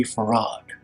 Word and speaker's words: Fard: Detroit Michigan as WD farad though he spelled his name as f a r d he pronounced it as if it had two syllables a rod he told